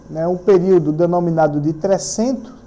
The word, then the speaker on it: Trecento: Eu falei que durante, né, um período denominado de Trecento, né, assim mesmo se pronuncia, né, porque é um termo italiano, e no período posterior,